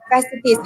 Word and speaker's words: fasciitis: Physiotherapy management for plantar fasciitis. How do I pronounce it?